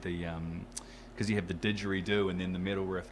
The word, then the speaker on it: didgeridoo: People don't necessarily know how to pronounce it, so it's didgeridoo.